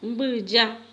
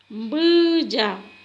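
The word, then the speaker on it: mbyja: En guaraní decimos bulla. Bulla.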